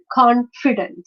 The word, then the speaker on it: confident: syllabic word right but the stress is on the first syllable beautiful confident difficult holiday this again let's